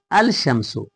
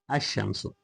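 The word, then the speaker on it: الشمس: So here al- Shamso uh apparently it should be pronounced uh al- shamso but uh lamb uh gets ass is assimilated to the letter she and it is pronounced ashamsu.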